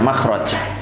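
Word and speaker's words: مخرج: bahasa Arabnya itu kan ada tulisannya mim k ro kemudian Jim itu bacanya adalah Mak makhraj kalau diterjemahkan dalam bahasa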